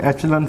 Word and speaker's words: echelon: एचलन कह लें, बाद एचलन बोलते हैं, बाद एक्लन फॉर्म बोलते हैं, ये आप पे डिपेंड करता है कि आप इसकी क्या प्रोनाउंसिएशन करते हैं। एचलन ज़्यादातर ये वर्ड चलता है।